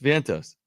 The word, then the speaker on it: Vientos: lineup for the Mets is Lindor stto Alonzo Vientos is that who is that where is that how you pronounced it I don't know Mark hold on Met's roster um it might be Vientos yeah it's Vientos Mark Vientos got that one yeah yeah he